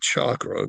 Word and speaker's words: Chacra: He calls the winery Chacra. It's spelled Chacra, as a reference to the word chakra, Chakra, because he thinks the wine is a connection between man and God.